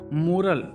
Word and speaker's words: moral: मोरल, MORAL, मोरल, मॉरल, मॉरल का मतलब होता है नैतिक।